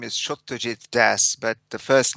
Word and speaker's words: Satyajit Das: I even before we started we you pronounced your name and I know I just mispronounced it. That's okay. Everybody does. My full name is Shujit Das, but the first name is a little hard for Anglo-Saxon tanks tongues to get around.